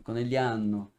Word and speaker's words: Conegliano: entendi que que eu não falo o g de conegliano não italiano acaba o g acaba sendo quase nunca pronunciado ficando conegliano Verdade vocês fazem né